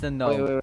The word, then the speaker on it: Gnome: No, I'm saying this to the gnome. No, stand still. There ain't no shot. Yes, I know it's pronounced gnome, but since I am such a snowflake, I'll keep calling him Gnome.